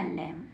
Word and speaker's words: LAMB: क्या बन गया, लैम। क्या बन गया, लैम। आपने देखा बी लास्ट में है, बी से तुरंत पहले एम है, तो हम बी को नहीं पढ़ेंगे।